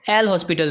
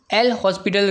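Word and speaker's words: L'Hôpital: हमारा first topic रहेगा एल हॉस्पिटल rule. कई लोग इसको लापिडा रूल से भी प्रोनाउंस करते हैं, तो कोई बात नहीं है, तो प्रोनाउंसिएशन तो जो चाहे मेथड से करिए।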